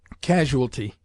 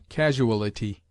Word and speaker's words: casualty: Casualty. This word is often heard with the incorrect addition of a syllable, casualty, which is not recognized by the lexographers.